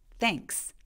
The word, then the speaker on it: thanks: 땡스도 발음해 볼게요 저거를 근데 그냥 발음하면 무의식적으로 땡스 이렇게 응스처럼 들릴 수 있는데 그것보다는 요소를 내주세요 한번 같이 해볼까요 thanks thanks 정말 여러분의 목소리를